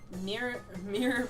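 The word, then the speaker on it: Miror: Mirror B Peon. Yep. It's kind of weird. It is pronounced mirror despite the fact it only has 2 R's instead of 3.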